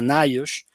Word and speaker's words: NIOSH: Se le abrevia por sus siglas y se pronuncia NIOSH, que tiene una norma